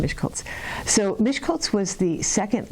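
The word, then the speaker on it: Miskolc: So, um, anyway, that's it's pronounced Mishkultz.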